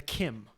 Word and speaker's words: CIM: uh I like this pronounced Kim as in Kim Jong-un but also it's the California Independence Movement Dash this is good